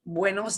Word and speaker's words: buenos: until noon, we say buenos dias, buenos dias. So we're going to Buenos. pronounce this. Every letter gets pronounced. Bueno, so it's going to sound like U-E, U-E, buenos, Buenos.